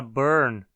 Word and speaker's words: burn: A palavra burn, nos dialetos róticos do inglês, possui o próprio som de R, como o núcleo da sílaba. Burn. Não existe realmente uma vogal ali, né?